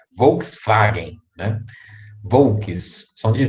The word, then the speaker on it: Volkswagen: Normalmente o W tem som de V. Aí vocês vão lembrar do V, do W, do Volkswagen, né? Se pronuncia Volkswagen, né?